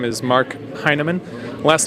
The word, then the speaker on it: Hinaman: it's it's also pronounced a lot of people pronounce it henneman and that's incorrect it's uh mark heinemann kind of like hey man are you high yeah nah man i